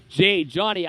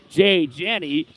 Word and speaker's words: Janney: Just to correct myself, because previous games I was pronouncing his name Jay Johnny. I have been told it's actually Jay Janney.